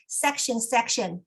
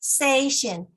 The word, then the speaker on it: session: For example, I often heard section, but actually it should be session, table topic session, manual speech session, evaluation session.